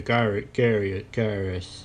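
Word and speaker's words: Caius: Commander Karras. I'm the commander of the guard here in Whiterun. How do you say that? It's all vowels. C-A-I-U-S. K-A-U-S.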